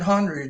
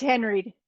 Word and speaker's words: Henreid: paul h-e-n-r-e-i-d follow her i think he pronounced it hungry didn't he it's no it's henry it's he's he's doing